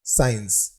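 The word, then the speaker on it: science: हमारा अगला वर्ड है साइंस। इसमें आप देख सकते हैं कि इसमें C साइलेंट है।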